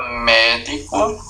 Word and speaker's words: médico: É importante, pessoal, veja, cuidado que existe a palavra médico e existe a forma verbal medico, do verbo medicar, né?